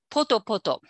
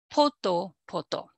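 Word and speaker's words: ぽとぽと: Okay, so pata pata and D, actually D, poto poto. Okay, these are unambiguously mimetic because they have P initially. These forms have the accent on the initial syllable.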